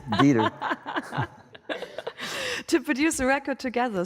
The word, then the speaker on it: Dieter: It sounds so German. Dieter, oh, yeah. I would imagine you would pronounce that right. It's Dieter.